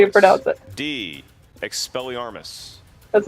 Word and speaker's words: Expelliarmus: no see out that deed expelliarmus that's how you pronounce buddy that was right know when guardian